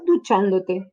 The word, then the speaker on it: duchándote: colle à la fin, l'accent tonique va se déplacer. Nous allons donc toujours trouver un accent à la troisième syllabe en partant de la fin.